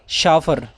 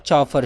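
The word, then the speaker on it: chauffeur: How will you pronounce this word? शाफर. Okay, शाफर, नॉट चाफर, शाफर.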